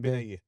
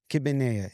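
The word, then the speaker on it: kibbeh nayyeh: Kibbenaye. What is it? Kibbenaye. Kibbenea.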